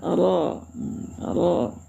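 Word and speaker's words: ر: Kemudian ro bacaannya harus tafk juga tebal ya.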